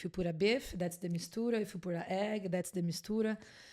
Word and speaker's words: Mistura: Mistura. Mistura. Did I pronounce that correctly?